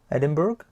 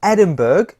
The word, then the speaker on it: Edinburgh: Scotland is Edinburgh, or Edinburgh. I like to call it Edinburgh to help me memorize that it's like an iceberg.